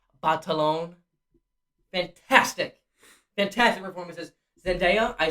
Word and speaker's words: Batalon: and jacob battle on or as he pronounced it on some interview batalon fantastic fantastic performances zendaya